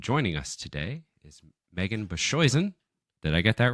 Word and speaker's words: Boshuyzen: it's totally cool uh my last name is pronounced bashen okay bashen bashen it's like TJ husa missili orever those